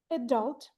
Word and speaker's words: adult: what people will say adult. The stress is on the second syllable.